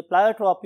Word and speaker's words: pleiotropy: यस my dear students, अगर आप pronunciation की बात करें तो बहुत से लोग इसे प्लायोट्रॉपी और बहुत से लोग इसे प्लियोट्रॉपी भी बोलते हैं।